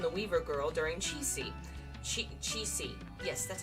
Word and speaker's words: Qixi: Qixi.